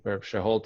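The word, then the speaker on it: Seheult: know nature so doctor I think shulte is sure Holt is is how you pronounce it but he runs a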